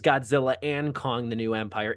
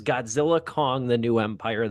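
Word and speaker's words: Godzilla x Kong: The New Empire: The X is silent. I was saying it is Godzilla and Kong, the New Empire. It is Godzilla, Kong, the New Empire.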